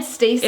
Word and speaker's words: Stessie: So it's a French spelling of Stacey. It's more like a Haitian Creole influence on the name. So, but is it said Stacey? It's pronounced Stacey.